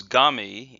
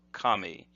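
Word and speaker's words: 髪: Now this next character is gami in the way it's pronounced in this technique. If you try to look that up in a dictionary, however, you won't find gami. You'll have to look for kami, and this means the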